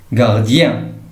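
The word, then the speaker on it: gardien: غارديان اي او ان كتنطق يان غارديان.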